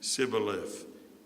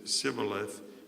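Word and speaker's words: Shibboleth: they said all right say civil lift if he says sibileth because he could not pronounce the word correctly They seized him and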